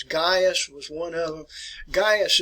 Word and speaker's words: Gaius: jurors all right now the way you want to pronounce this is gaius was one of them